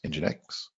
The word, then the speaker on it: nginx: also going to provide what is nginx hmx pronounced nginx and then they talk about how to use